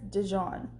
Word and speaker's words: Dijon: His name was Paris Dijon, pronounced like the mustard. Hold the I for reasons I never knew. He was Paris Dijon, I guess that's how you would say that.